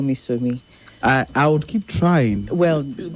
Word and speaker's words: Somi: Yes, it's Somi, please. Just simply Somi. S-O-M-I. I even spell it out.